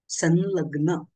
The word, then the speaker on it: संलग्न: उच्चारण स्थान आहे म्हणून अनुस्वाराच्या पुढे जर ल हे व्यंजन आले तर अनुस्वाराचे उच्चारण हे न प्रमाणे केले जाते उदाहरणासाठी संलग्न हा शब्द दिलेला आहे संलग्न संलग्न म्हणत नाही आपण बरोबर की नाही संलग्न असं उच्चारण करतो किंवा दुसरा एक नियम